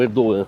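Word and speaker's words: Erdoğan: Parece que o a política econômica do Erdogan, né, que é o presidente daqui agora, eles falam Erdogan. Só por curiosidade, se escreve Erdogamas, eles falam Erdogan.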